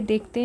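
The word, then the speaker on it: the: तो इसे यहाँ पे दी प्रोनाउंस करेंगे, क्योंकि जो ये ओबेडिएंट के वर्ड है, इसका जो फर्स्ट लेटर है ओ प्रोनाउंस करने पे वो आ रहा है, जो कि एक वोवेल साउंड है। इसीलिए यहाँ पे द के जगह पे दी प्रोनाउंस करेंगे, दी ओबेडिएंट गर्ल।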